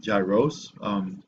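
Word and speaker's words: γύρος: gyrase reminds me of, I think you would call it gyros, but in Greek it's pronounced gyros. I'm Greek, so I know.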